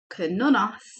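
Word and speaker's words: Cernunnos: Ask, let's pronounce it correctly, Kernonos, to help you access your sexual self so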